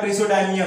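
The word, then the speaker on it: Praseodymium: Next या प्रिसोडाइमियम, अलग अलग प्रोनाउंसिएशन होते हैं तो अलग अलग भी आप कर सकते हो।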